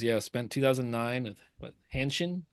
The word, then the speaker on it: Hanshin Tigers: Yeah, spent 2009 with what, Hanshin? How do you say it, Tyler? Yeah, the Hanshin Tigers.